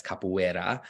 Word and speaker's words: capoeira: English and Portuguese so ours at the beginning of words are pronounced as H's however in the middle of words if it's a single R it's still pronounced like an R like we would in English so that's why it's capoeira and so there's an